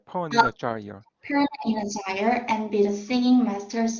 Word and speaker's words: gyre: 예, 그 좌이어입니다. 발음이 좌이어. 펀이나 좌이어. Perna in a gyre, and be the singing masters of my soul.